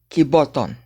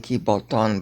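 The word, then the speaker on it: κιβωτόν: Kiboton. Okay, it's saying kiboton, but that's wrong. You never stress Greek on the last syllable.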